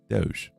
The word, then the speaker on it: Doge: into the chat saying it it is pronounced just like the coin interesting I'll keep that in mind do Department of government efficiency Doge Doge um so Random